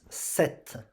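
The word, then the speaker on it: sept: You don't pronounce the P. So it's set.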